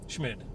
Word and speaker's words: Schmid: Schmid. Schmid, okay. I didn't know if they forgot the T or something. No, there's no T.